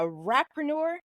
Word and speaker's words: rapreneur: Do you call yourself a Rapreuner? Is that how you pronounce it? Yeah, actually. Yeah, a All right. rapreneur.